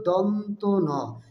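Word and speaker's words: দন্ত্য ন: ধ হলো মহাপ্রাণ বর্ণ বাতাসে চাপ বেশি থাকবে তারপরের বর্ণটি হল দন্তন এটার সঠিক উচ্চারণ হবে এ বর্ণটি সঠিক উচ্চারণ হবে দন্তন অনেকে দন্তান্য বা বিভিন্ন ভুল উচ্চারণ করে থাকে সঠিক উচ্চারণ হবে দন্তন তারপরের বর্ণটি হল প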